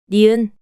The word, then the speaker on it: 니은: Now, try pronouncing it 5 times, following the voice. 기역, 기억, 기역, 기억, 기역. 니은, The name of this consonant is 니은, nieun